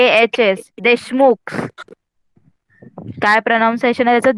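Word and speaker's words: Deshmukh: एम यु के एन एस के एच एस देशमुख काय pronunciation आहे त्याचं देशमुख देशमुख हां व्हेरी गुड माईक ऑफ करा तर सगळ्यांना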